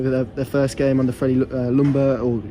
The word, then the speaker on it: Ljungberg: I mean obviously their first game on the lumber or Jim burgers I'm told it's pronounced in Sweden and I didn't feel it